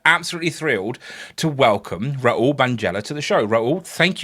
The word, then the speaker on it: Bhaneja: So please, you have not at all offended, but it's pronounced Bhaneja. Bhaneja.